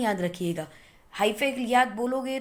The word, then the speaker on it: hyphae: now these thread like structure above the bread mold are called as hyphae. Can call is hyphae, hypha, whatever you feel like. वी can call it, जो भी है, लेकिन spelling याद रखिएगा। हाइफे याद बोलोगे तो spelling याद हो जाएंगे, लेकिन प्रोनाउंसिएशन गलत हो जाएगी।